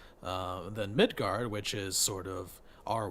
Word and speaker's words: Midgard: be our world so mythgarth is how it'd be pronounce an Old Norse but um oh that's